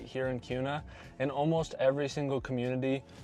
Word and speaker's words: Kuna: So, it looks like kuna, but it is actually kuna, like with a Q.